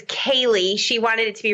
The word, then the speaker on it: Kalii: all right well okay i do have to ask is that short for calliope no and you know i'm terrible i never correct people on how to say my name but my mother always gets mad so it's kaylee she wanted it to